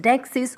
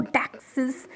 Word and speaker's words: deixis: The noun dexis is pronounced dexis or dexis and has its origin from the Greek word diknonia, which means to show or to point.